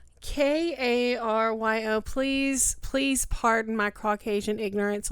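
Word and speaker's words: Tchéky Karyo: Tasheki Cairo? Cairo. Karyo. Please pardon my Caucasian ignorance on trying to pronounce this name, y'all.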